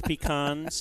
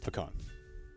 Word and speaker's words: pecan: Who loves pecans and waffles on his hand. Pecan.